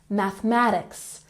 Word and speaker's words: mathematics: Mathematics has the emphasis on the second syllable. Mathematics, mathematics. Don't forget to pronounce your TH sound. Mathematics. Good.